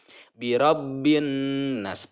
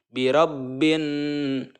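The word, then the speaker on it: بِرَبِّ النَّاسِ: ya mengenai guna-guna itu cara membacanya harus mendengung dan menahan dengungan itu selama 2/3 harokat biro bhin-bhin Nah ada menahan Nun ya mendengung jadi dengan ini adalah menyeretnya suara ya ke hidung birabbinnas birabbinnas 2/3 harokat menahan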